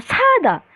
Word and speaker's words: 싸다: Jadi kalian ngegas ya bacanya 사다 gitu.